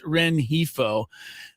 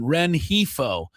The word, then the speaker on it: Rengifo: is the amazing Luis Renhifo. Uh, again, how much of the G are we supposed to pronounce? It's an H.